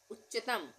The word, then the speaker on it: उच्चतम: उच्चतम, उच्चतम में भी आधे च का उच्चारण हो रहा है, फिर पूरे च का, उच्च बोल के देखें, उच्चतम, उच्चतम, तो यहाँ पे इस तरह से हम लिखेंगे।